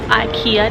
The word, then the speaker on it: IKEA: we made it to the care also called IKEA depending on who you ask but I have friends from Sweden whose family works for a care and that's how they say it so I'm going to